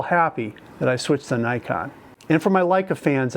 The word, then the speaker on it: Nikon: with the Nikon Z the original pronunciation from Japan in Japanese is Nikon Nikon and this is the